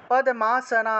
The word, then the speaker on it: পদ্মা: লক্ষ লক্ষমি পদমা পদ পদমাসনা দেবী পদ্মা ঠিক আছে এই যে প তারপরে দ নিচে ম ছিল পদ্মা শব্দটাকে পদ্মা উচ্চারণ করতে হয় পদ্মা তাহলে লক্ষ্মী লক্ষ্মী